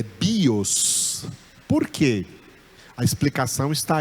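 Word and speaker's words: βίος: em cima do ômicron, mas quando eu pronunciei, é o bi que é a sílaba tônica, é o iota que forma a sílaba tônica, é o bi, não é o os, não é bios, é bios.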